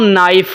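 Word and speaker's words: knife: तो मैं पढ़ना हूं नाइफ मैं के को साइलेंट कर देता हूं ऐसे ही है ना तो साउंड के अंदर केक की आवाज नहीं ए रही क्यों अगर मैं टीचर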